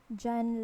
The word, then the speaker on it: dyan: You say, Mama, dyan lang po sa may Quiapo. Mama, dyan lang po sa may Quiapo. This dyan is pronounced as like this one. Jan, like in January.